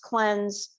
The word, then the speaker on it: CLNZ: next favorite product is called cleanse clnz pronounced cleanse and this is great